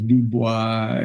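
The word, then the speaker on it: Dubois: eth and uh and D boy of course is dubis and and we've got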